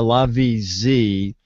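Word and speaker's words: LaVie Z: It's spelled L-A, capital V-I-E-Z. So it's the LaVie-Z, and there's going to be two different models.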